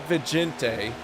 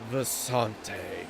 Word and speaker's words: Vicente: So it's really not Vicente, but it should be like this beautiful flowing Vicente.